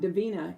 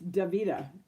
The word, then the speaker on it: Divita: Dave Gupta I've even got Davina and I don't know where that came from because there's no end in my name but it's divita so when people are